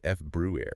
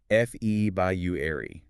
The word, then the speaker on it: February: Or sometimes even faster almost like f brew air. F ebu air. The material points out that while the feb brew version is totally acceptable, the really common spoken form is closer to fe by you.